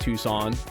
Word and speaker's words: Tucson: It's pronounced Tucson.